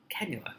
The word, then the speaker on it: cannula: Cannula. Now I know how to pronounce it.